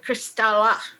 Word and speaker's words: Kristalle: do you pronounce crystal we pronounce it cristala and what's what's the